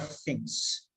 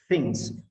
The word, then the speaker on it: things: So today we are going to learn a number of things. Things, not things. Things, things. Things, things. The sound, things. Th, th, th. Okay, this is not there in any Indian language.